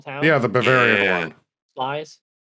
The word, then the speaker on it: Sluys: Slice? It's called Slice. It doesn't look like that. Oh. How you pronounce it?